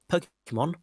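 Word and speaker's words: Pokémon: This fall of 1998, Pokemon, pronounced Po-ke-mon, for Game Boy and Pokemon TV series will be reaching North America.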